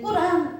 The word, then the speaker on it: 꾸란: 이슬람 사람들이 성경을 꾸란이라고 하는데 이건 아랍 발음이에요. 자, 코란 이것도 다 같은 건데 이건 영어식 발음, 서구식 발음이 그래서 코란이라고 합니다. 그래서 어떤데 꾸란 이렇게 얘기하는 데가 있고 어디에서 코란 이렇게 얘기하는 데가 있습니다.